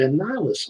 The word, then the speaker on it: Annihilus: I thought it was supposed to say Annihilus on it.